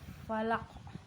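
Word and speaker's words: فلق: Bi rabbal falaq. Falaq. Jadi falaq. Jadi kita membacanya mantulnya itu lebih kuat.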